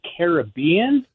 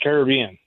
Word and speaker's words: Caribbean: loved uh Pirates of the Caribbean, but is it pronounced Pirates of the Caribbean or is it Pirates of the Caribbean? I honestly don't know. I've heard it pronounced both ways and I hear it both ways all the time.